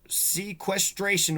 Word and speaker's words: sequestration: Prejudice resulting from violation of a sequestration order. Sequestration. It's 4 syllables. I kind of want to say it like it has 3 or maybe 2.